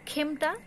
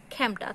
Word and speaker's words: খেমটা: খেমটা, খেমটা কিন্তু উচ্চারণটা অশুদ্ধ, উচ্চারণটা হচ্ছে খ্যামটা।